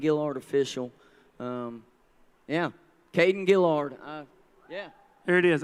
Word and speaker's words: Guillory: Kayden Guillory, uh yeah. There it is. I say it wrong every time. It's Kayden Guillory, not Guillory. It's Guillory.